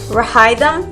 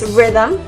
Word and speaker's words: rhythm: or how something sounds rhythm not rehydra or item it's rhythm then we have chemistry